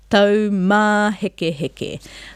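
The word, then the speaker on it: taumāhekeheke: Au, tau, taumā heke heke. The stress and focus is on the ma with the macron because it has a macron. Everything else will just drop off and it becomes quite rhythmic.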